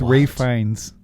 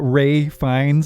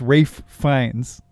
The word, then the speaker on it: Ralph Fiennes: They pronounce his name Rafe, so when you say it, it's Rafe Fiennes.